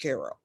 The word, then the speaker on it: Cairo: in southern illinois called cairo illinois spelled by cairo egypt pronounced cairo and it's right on the mason-dixon line so